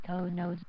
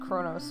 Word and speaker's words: Kronos: the goblin strippers to Konos. Close Be enough. It's prepared to Kronos. beam them over to the bird of prey nearby. It's pronounced Kronos, but close enough.